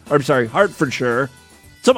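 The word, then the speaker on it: Hertfordshire: sorry Hartford sure so I always have trouble pronouncing like British areas with the word Shire I want to say higher right but then someone pointed out hey we do have a shire here in the United States New Hampshire and you pronounce it Hampshire so I'm gonna start pronouncing it sure yes she's from King's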